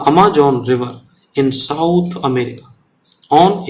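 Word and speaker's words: Amazon: करते हैं, लेकिन ये अमेजोन इसको अमेजन नदी कहते हैं, इन द साउथ अमेरिका। ये दोनों का प्रोनाउंसिएशन अलग हो जाता है, ध्यान रखना, ये अमेजन नदी है, ये अमेजोन है, दोनों की स्पेलिंग अलग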